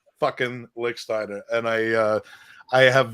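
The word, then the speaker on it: Lichtsteiner: all the time about licksteiner because he i mean he first he couldn't pronounce the name lichtenstein was constantly uh what he would say and um and and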